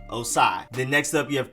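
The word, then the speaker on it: Ossai: you have edge joseph osai na osei na osai or anything else joseph osai then next up you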